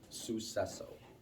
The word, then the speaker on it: Suceso: There's no hard C, there's no k, sucesso.